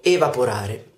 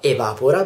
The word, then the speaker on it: evapora: verbo e il verbo evaporare ci sono rimasto un po quando ho scoperto questa cosa ma in realtà non si pronuncia l'acqua evapora bensì l'acqua evapora perché questo deriva dal verbo vapor aree ma poro da vapor